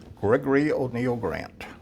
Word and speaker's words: Gregory O'Neil Grant: um could you tell me your full name gregory o'neil grant could you spell that for me please g-r-e-e-g-o-r-o-y oh apostrophe-n-e-i-l-g-r-a-a-n-t and